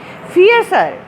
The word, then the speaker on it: fierce: और ये बड़ा इंपॉर्टेंट वर्ड भी है, फियर्स, आर इसमें साइलेंट होता है, फियर्स मीन शदीद हो गई उनकी प्यास।